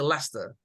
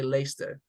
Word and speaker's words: Leicester: are also correct but most like they'll say Lester Leicester that's it lay what where's a can I say lace them yes you can some people in the UK they say later but most people will say a Leicester so Leicester City okay